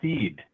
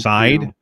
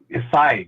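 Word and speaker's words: Seid: By Barry Seed. I've never heard of him, but right. Anyway, this is it's actually pronounced Side, but yes. Yeah, Side. Yeah, right. Barry Side.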